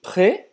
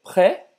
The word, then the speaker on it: près: La cathédrale Notre-Dame est-elle près d'ici? La cathédrale Notre-Dame est-elle près d'ici? La cathédrale Notre-Dame est-elle près d'ici? Então, o S de près não é pronunciado, né?